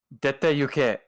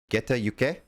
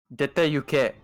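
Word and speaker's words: 出て行け: Dete yuke. Geta yuke? Dete yuke. De. The first sound is de.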